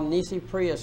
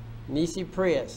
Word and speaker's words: nisi prius: all the other courts are what we call nisi prius courts courts that exist because you failed to object okay a nissi prius court that's spelled n-i-s-i and the next word is prius p-r-i-u-s nisi prius that translates from latin into without prior objection